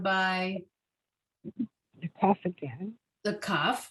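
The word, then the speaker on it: כ: Still a kaf, sounds like a K.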